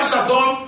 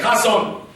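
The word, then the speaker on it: חזון: mais j'ai appris que dans le Hébreux le CH ne se prononce pas et quand les ch ne se prononce pas on ne dit pas chazon on dit rason Chasson ou rason se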